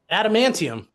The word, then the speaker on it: Adamantium: Animanium, Adamantium.